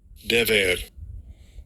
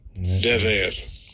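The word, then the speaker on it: דֶּבֶר: Dever. Dever.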